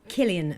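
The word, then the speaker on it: Cillian: griffin is correcting me it's pronounced with a k so it's killian murphy oh killian murphy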